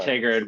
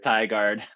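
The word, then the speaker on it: Tigard: with pronouncing the names i always called it tiggered but it is thai guard yeah no i always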